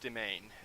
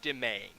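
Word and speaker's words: demesne: For some reason, this spelling that you're looking at right here, my mouse cursor, the S is for some reason silent. It's pronounced domain.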